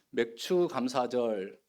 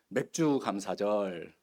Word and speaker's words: 맥추: 그래서 맥추 감사절 이것을 잘못 발음해 가지고 지난주에 우리 장로님도 이야기하시던데 맥주 감사절.